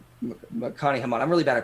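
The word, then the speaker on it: Nima Arkani-Hamed: It's Nima Arkani Hamad. Nakani Hamad. I'm really bad at pronunciation.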